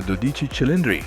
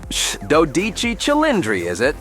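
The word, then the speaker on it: Dodici Cilindri: Ferrari 12 cylinders uh or you could call it by its name when pronounced in Italian the doich chind okay so the Ferrari dodich chilindrinas anywh who it's Ferrari's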